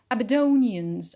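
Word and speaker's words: Aberdonians: be is never stress abedonians abedonians is an adjective the stress is on do on the pinult because of the ian line rule so the people of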